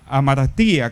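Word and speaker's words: ἁμαρτία: La mejor palabra que podríamos usar es, para comprender lo que significa el pecado, es la palabra griega que se pronuncia amartía, que significa literalmente errar al blanco.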